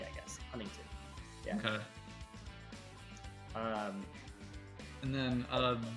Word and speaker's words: Huntington Beach: lazy Southern California draw we don't pronounce the t's in a lot of stuff so you would never never say like Monterey or Huntington Beach it's like Monterey honey